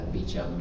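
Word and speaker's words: Beauchamp: a French name but has been you know co-opted into a British pronunciation so it is in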